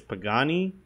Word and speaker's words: Pagani: stuff from the god I can never pronounce this company's name right I think it's Pagani it's basically using their